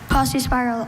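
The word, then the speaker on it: paucispiral: Posse spiral. Are there any alternate pronunciations? Just posse spiral.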